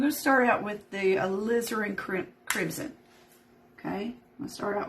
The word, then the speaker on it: alizarin: right because this is this is how you pronounce it because I got on I Googled it alizarin alizarin Crimson alizarin yeah that's right that's that